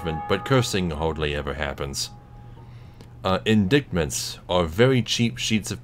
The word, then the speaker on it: indictment: Also, it's pronounced indictment. But That's what I thought, but I didn't want to say anything. what it is? Yeah. What? But why is it a C? I don't fucking know. Shouldn't it be like a GH or something?